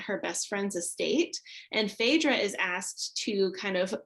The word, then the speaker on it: Phaedra: so it's about i don't know how to pronounce this name i've always read it as phaedra is that what it is p-h-a-e-d-r-a phaedra oh yeah so phaedra brighton is perfectly